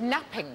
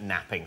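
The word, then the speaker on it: knapping: No, but you're right, it begins with a silent K. When we made early tools, what do we make them out of? Flint napping.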